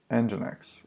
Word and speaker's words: nginx: that's calm nginx okay so you can literally spell it all caps all lowercase capital m capital X or just capital m whatever engine X okay we'll do it all our case whatever